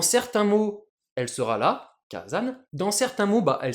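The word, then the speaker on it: 火山: Le premier cana du second kanji, le sa va prendre un accent ici le dakuten ce qui nous donne kazan ce qui est beaucoup plus facile à prononcer pour les japonais.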